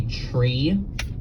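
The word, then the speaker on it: three: Pilots are supposed to pronounce numbers in a really funky way. Like you're supposed to say tree instead of 3. You're supposed to say fife instead of 5. And then 9 is niner.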